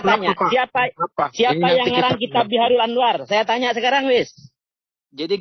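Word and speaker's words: Bihar al-Anwar: Ya, Biharul Anwar, bukan Bihairul. Kalau debat ya, dengan saya harus yang benar membacanya ya.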